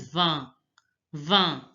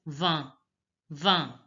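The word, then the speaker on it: vingt: 19, 20 is pronounced as va, va. In is pronounced as a. It's the nasal sound. So the 20 will be pronounced as va, va.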